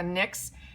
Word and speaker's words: NYX: the professional the nyx n yx and it's pronounced nyx professional makeup butter gloss they're saying this butter